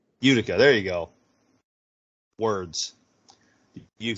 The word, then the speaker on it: Utica: is that New York uh I can't even pronounce it Utica Utica Utica there you go words use the comments I